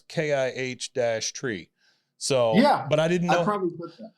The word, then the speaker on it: Chytry: name for us so my last name is kitri okay CCH last name okay and yeah I normally put the well we I I pulled something off the internet and it it says pronounce kih tree so but I didn't